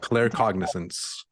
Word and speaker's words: claircognizance: Claircognizance.